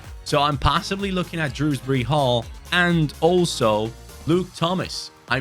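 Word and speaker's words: Dewsbury-Hall: Hall you're the one oh wait it's dewsbury Hall oh my God I thought it was Drew d-r-e wow I've been saying it wrong this entire time sorry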